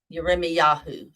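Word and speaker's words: ירמיהו: a relative of Jeremiah yarime Yahoo is how you say Jeremiah in Hebrew I tell my uh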